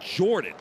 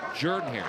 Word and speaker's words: Jordan-Hare: Jordan-Hare Stadium, not Jordan, like Michael Jordan. We're just talking about be like Mike or be like Ike. It's Jordan-Hare, not Jordan-Hare.